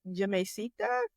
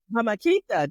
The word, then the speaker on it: Jamaiquita: We had a whole conversation at our table when we were at, how do I pronounce it? Jamaicita? Jamaiquita. There we go. I got it all wrong.